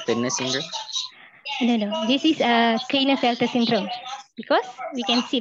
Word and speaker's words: Klinefelter: This is Klinefelter syndrome, because we can see that.